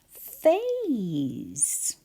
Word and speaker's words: phase: First word, phase, where we hear one sound at the beginning with my teeth on my bottom lip, but we write P-H, A, and then S-E. And you're right, it looks like an A consonant E spelling, and it is.